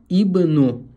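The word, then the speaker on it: ابن: должны читать правильно но это слово является исключением переводится как сын ибну всегда читается ибну даже если здесь Дамма он всегда будет читаться через КСР ибну здесь смотрим фатха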